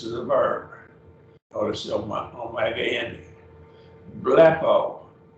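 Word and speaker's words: βλέπω: a verb omega andy bleppo and two syllables blappo lapo is i see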